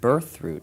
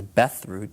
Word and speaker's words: birthroot: the Medieval Era there's a plant named birthroot which in America is essentially known as Beth rout but only through mispronunciation there is a plant